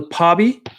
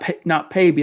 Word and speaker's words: Pobby: So Pobby, not Payby. I was saying Payby.